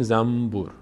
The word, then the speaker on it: زنبور: فکر بکنیم تلفظش اینطوریه ما میگیم زمبور زم بور اصلاً کلاً نون تلفظ نمی‌کنیم میم تلفظ می‌کنیم زنبور بعد از نون